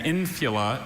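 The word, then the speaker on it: infula: Infila. Infila. May I have the definition? An infila is a fillet of red and white wool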